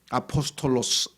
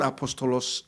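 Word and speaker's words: ἀπόστολος: 그랬는데 히라 다시 말해서 헬라어로는 그렇죠 아포스톨로스 이렇게 해서 뭐 발음이 영어랑 비슷하죠 영어도 거기서 그냥 음역을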